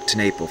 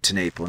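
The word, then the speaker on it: TenNapel: That's good old Doug Tenaple for you. And I believe it's Doug Tenaple, not Tenaple.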